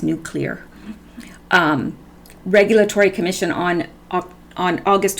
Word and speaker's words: nuclear: agent to the nuclear-nuclear it's not nucular how i was pronouncing it before so forgive me because there was several people that told me that i was pronouncing it wrong it's Nuclear Regulatory Commission on on